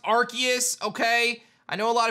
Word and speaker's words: Arceus: i do want to say guys it is pronounced arceus okay i know a lot of people don't